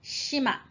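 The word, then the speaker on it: 島: Okay, so that's how to practice in your Wakabuku. では次いきます。Okay, island, shima. Now you need to know two pronunciations, shima or to.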